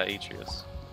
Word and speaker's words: Atreus: Yeah, Atreus. That's how you pronounce Atreus.